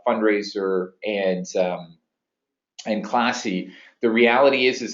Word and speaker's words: Fundrazr: And Fundraiser, just to be clear, is spelt Fundrazr. So there's a funky spelling to that.